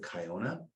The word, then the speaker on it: Kiona: Next week, Wines of Kiona.